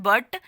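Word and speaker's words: but: स्थानांतरण कहते हैं जैसे अंग्रेजी में ब्यूटी का उच्चारण बट तथा पी यू टी का उच्चारण पुट करने में विद्यार्थी भ्रमित हो जाते हैं जैसे हम इंग्लिश में सीखते हैं ब्यूटी मतलब बट तो पी यू टी का मतलब पैट क्यों नहीं होता है इसे पुट यहां पे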